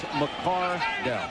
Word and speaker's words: McCardell: start pronouncing my son's name McCardell with emphasis on D-E-L-L." And they said, "Why didn't Keenan say anything?" He's too concerned about playing, but it is McCardell.